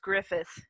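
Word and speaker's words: Gruffudd: isn't it oh yeah it actually is pronounced Griffith mr.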